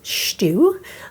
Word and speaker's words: stew: Or they would eat lamb stew, which they pronounce stew, okay, Irish stew.